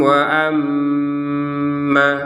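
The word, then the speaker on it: وأما: Perhatikan di sini kita bacanya wa amma, ya, 2 harokat. Ternyata di sini ada tasydid. Nah, kalau kita menggabungkan panjang yang 2 harokat ini kepada tasydid, maka panjangnya hilang.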